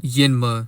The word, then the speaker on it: Njinmah: So Justin's real name is Justin Gideon Yinma, and that's how you pronounce his last name.